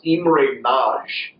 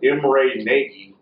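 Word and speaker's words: Imre Nagy: in Hungary uh and this name is actually pronounced IM NJ but it looks like IMR Nei uh but there was uh there was movements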